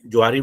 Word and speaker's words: Johari: एंड the topic is जोहारी window right लोग इसको जोहरी window जोहरी window कहते हैं लेकिन द